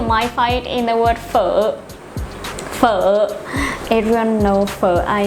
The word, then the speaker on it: phở: Sorry, I just like phở so much. Phở. Phở. Phở. You pronounce it like an F in English.